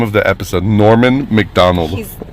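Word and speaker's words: Norm Macdonald: the episode norman mcdonald that's kind of hard to pronounce that's i think that's why he went with norm mcdonald yeah norman mcdonald because you have to say normand finish with a d and then start over with a and then close your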